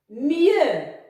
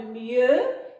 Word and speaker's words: mieux: Mieux. Alors le X toujours muet à la fin de mieux et le son ye s'écrit avec I-E-U.